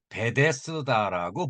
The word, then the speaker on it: Bethesda: 그러니까 예루살렘에 있는 양문 근처에 연못이 있었는데 히브리어로는 베데스다라고 불렸습니다. 영어로는 베데즈, 이렇게 S가 Z 발음이 납니다.